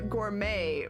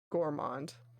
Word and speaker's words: gourmand: you say that word is it gourmet or gourm gourmand i can't just get like a normal pronunciation guide huh if you're gourmond gourmand it's gourmand gourmet makes more sense uh